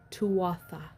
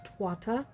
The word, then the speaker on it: Tuatha: or some variation thereof not Tua right it's twata or a variation thereof